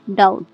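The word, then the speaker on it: doubt: यहाँ पर भी बी के बाद टी आ रहा है, इसलिए यहाँ पर बी साइलेंट है।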